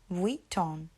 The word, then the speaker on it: Vuitton: And actually it's Louis, so the S is silent, Louis, and then Vuitton. So you want to add the W in there when you say Louis Vuitton.